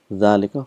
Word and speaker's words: ذلك: So we've learned that hadha and dhalika is one of those words where it is pronounced but it is not written.